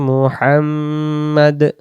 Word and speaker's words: মুহাম্মদ: আল্লাহুম্মা সাল্লি আলা মুহাম্মাদ। আল্লাহুম্মা আল্লাহুম্মা সাল্লি সাল্লি সাল্লি আলা আলা আলা মুহাম্মদ মুহাম্মদ মোহাম্মদ না মুহাম্মদ মুহাম্মদ এখন আমরা ভুল কি